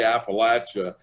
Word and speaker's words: Appalachia: you need to always think i'm going to throw an apple at you and if you think that you'll pronounce it correctly so now i know how to say appalachia and i've been consistently